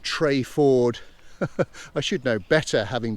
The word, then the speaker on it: Treyford: of the valley so i should point out that through the entire video i call the village trafford in fact locals pronounce it trey ford i should know better